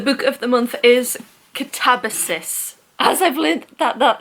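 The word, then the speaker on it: Katabasis: The book of the month is Catabasus as I've learned that that is how it's pronounced. I thought it was Catabases.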